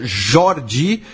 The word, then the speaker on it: Jordi: né, o nome e Jordi é uma paroxítona, então a vogal mais forte é o o, então seria Jordi.